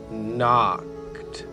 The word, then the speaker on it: knocked: toads house he can knocked the k is silent she's just keeping the end company while he does the talking so it's he knocked on the front door